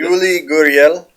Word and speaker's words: Yuli Gurriel: Yuli Gurriel.